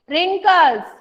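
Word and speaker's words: wrinkles: है NAAC line 11 रिंकल्स डब्ल्यू आर आई एन के एनपीएस रिकॉल्स not tell me which letter इस Ireland in ring call with later silent and think will give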